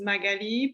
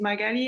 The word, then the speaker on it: Magali: me like um saying my name is magali and everybody will be like oh margaret or magdalena no that's not the same so yeah when i